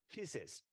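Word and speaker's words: faeces: 松弛、软弱，you don't pronounce the A, right? The feces, even is written as A, F-A-E-C-E, feces, are excreted and semen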